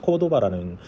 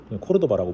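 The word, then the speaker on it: Cordova: 근데 그 다음에 이제 아파치 코르도바라는, 코르도바라고 부르는데 한국 분들은 R 발음 때문에, 그래서 그걸 중앙에서 제어하는 거를 갖고 있었어요.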